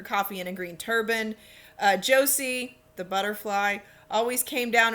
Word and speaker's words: Jose: We see the daughters, Laura, Josie, I know it's spelled Jose, but it's Josie, and Meg.